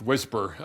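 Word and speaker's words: WSPR: Anyway, so the weak signal propagation reporter mode, pronounced Whisper.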